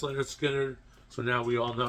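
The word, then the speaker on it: Lynyrd Skynyrd: First one was pronounced Leonard Skinner, so now we all know how to pronounce it.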